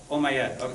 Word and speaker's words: Umayyad: Okay, so here in this mosque, the great mosque of Damascus, do you know how to pronounce it correctly? Umayyad.